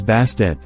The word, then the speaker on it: Bastet: a never-pronounced tone as bastet the perception of the deity turned into a more female-like figure emphasized by the pronunciation of the ending T sound of her name which has often been left silent the term vast it